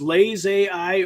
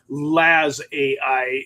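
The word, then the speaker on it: LazAI: I don't know if they if it's Lays AI or if it's LA AI. I think it might be more like Lazarith. Laz AI is what they pronounce it instead of Lays.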